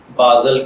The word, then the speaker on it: باذل: تو چلیے بڑھتے ہیں اپنے آج کے ٹاپک بازل کی جانب۔ بازل کی اردو املا میں جو